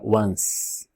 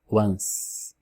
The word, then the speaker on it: once: Mas na verdade esse E não existe na pronúncia. A pronúncia, ela termina com um som de NS, como está escrito aqui entre parênteses. Então é once, once.